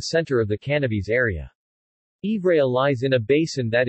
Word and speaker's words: Ivrea: Ivrea, Italian pronunciation, Ivrea, French, Ivre, Latin, Iporadia, is a town and commune of the metropolitan city of Turin in the Piedmont region of northwestern Italy.